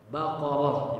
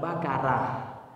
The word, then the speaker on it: Baqarah: payah or ya itu or itu tebal dibaca tebal O ya Baqarah bukan bakarah Baka bacanya bakarah ini salah P ya cara baca